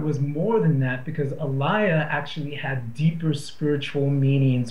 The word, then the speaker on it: alaya: then uh aliia um or you know Americans we pronounce it Alia but it's really aliia um and you're probably